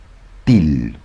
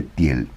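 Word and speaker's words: Thiel: La gente que sabe más que yo lo llama til. Peter, til, pero bueno, se escribe tiel. T h i l. T h i l. Peter, para nosotros vamos a llamarlo tiel.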